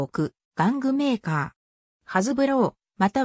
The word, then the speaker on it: Hasbro: 場合も多いが実際の発音はハズブローが近いとされ日本